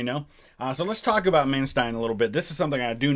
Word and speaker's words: Manstein: helped me with this typically when you have e i it's pronounced with the eye um and when when it's ie it's i think whatever letter second is how it's pronounced so i think it's man stein but if i'm wrong